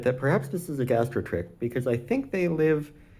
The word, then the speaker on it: gastrotrich: make me think that perhaps this is a gastro trick um and I still might be mispronouncing that it might be gastro trich with a CH at the end or possibly with a